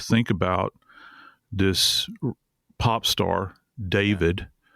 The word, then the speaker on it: D4vd: artist who goes by, we say David, but it's spelled D4 VD.